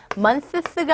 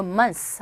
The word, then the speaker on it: months: months가 아니라 이때는 그냥 뜨 발음 자체를 그냥 약하게 하시고 months 하시면 돼요.